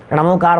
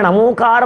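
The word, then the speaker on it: णमोकार: ये नमोकार महामंत्र है, ये नमोकार नहीं है।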